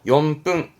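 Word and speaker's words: 四分: 합등 직분 그러거든요 그런데 4분도 염뚱임을 좀 간과하는 분이 계시더라고 4분도 용품입니다 이유 아시겠죠 자 여기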